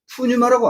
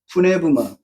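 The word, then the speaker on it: πνεῦμα: 그럼 거기서도 어떻게 발음하냐면 푸유마라고 안 해요. 그 번역께서도 푸네브마 푸시케라고 안 하고 푸시키라고 합니다.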